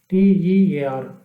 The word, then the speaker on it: tear: Look at another word, tear, T-E-A-R. It rhymes with the word fair, tear. Fair, tear. Tear means to pull apart. To pull apart. Another word, T-E-A-R, rhymes with the word near. Tear.